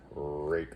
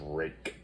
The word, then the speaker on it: Ruike: Rake, that's pronounced rake.